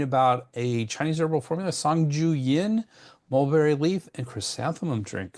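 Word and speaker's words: 桑菊饮: formula sanju yin that's sanju yin or mulberry leaf and chrysanthemum drink. So if that sounds weird as I'm pronouncing sanju yian it's because I'm using the tones and I'm not a native speaker.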